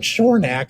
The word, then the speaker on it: Shornak: now my last name shornak again we would make the sounds that sh so again we would see the s h makes the sh sound and then again the